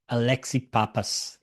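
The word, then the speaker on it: Alexi Pappas: Alexi Papas. That's it. Yes. Oh, good Yeah, pronunciation.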